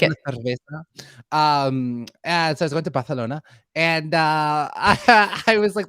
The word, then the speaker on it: cerveza: Una una cerveza, por favor. It's the th. They have the th sound. Okay. I like it. Una cerveza.